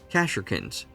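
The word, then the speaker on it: Kasrkin: She can lead Kad and shock troops and Karkkins. How do you say that? Cashkins, not Kins. Kashikin.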